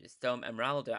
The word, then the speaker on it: Storm Emeralda: And this one has been trademarked and pronounced with an A. So, Storm Emeralda.